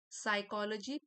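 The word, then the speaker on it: psychology: साइकोलॉजी P silent है, noun है।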